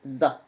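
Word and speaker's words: ظاء: But za pronounced as thick Z. Z, z, z.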